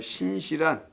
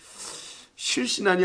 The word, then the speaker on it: 신실한: 밑분 신실한이라는 말이에요. 우리 순수한 한국말이에요. 우리 고유의 말은 신실한. 실신한이 아니에요. 너무는 뭐 실신했다고 하는데 이거 발음이 안 좋아가지고 신실한.